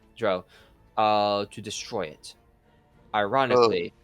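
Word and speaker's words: drow: by an evil dra dro as it's pronounced in this one dro uh to destroy it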